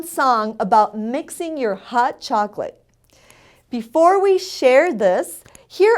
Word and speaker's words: chocolate: The word for chocolate in Spanish is chocolate. It's spelled the same, but we pronounce all the letters in the word.